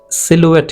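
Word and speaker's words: silhouette: Black and high his सिलुएट, सिलुएट कहना है, देखो यहाँ पर मैंने ब्रिटिश इंग्लिश का प्रोनाउंसिएशन आप लोगों को दिया हूँ।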